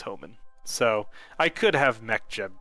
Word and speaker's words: Hohmann: Hoffman transfer, Hohmann transfer. I think it's Hohmann. I don't think that there is a, let's see. Yeah, it is Homan.